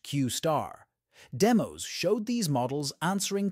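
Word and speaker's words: Q*: deep research capabilities previously called Q pronounced qar demos showed these models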